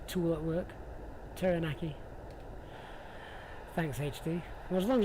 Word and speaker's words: Taranaki: Is that, was that Mount Taranaki? I may not be pronouncing that right, but there it is.